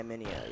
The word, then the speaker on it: Miniohh: Okay, so it's Miniohh, right? That's how you pronounce it? Yeah, Miniohh, yeah.